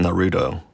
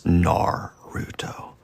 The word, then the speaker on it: Naruto: I think I called it Naruto. And they're like, excuse me, it's Naruto.